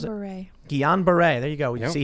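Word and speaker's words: Guillain-Barré: diagnosed with an obscure neurological disease known as gelane bar syndrome is that you pronounce it guillain-barre there you go you see he can't pronounce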